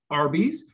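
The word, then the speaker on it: RBIS: strategies the acronym is arby's which is pronounced just like the fast food chain so uh when we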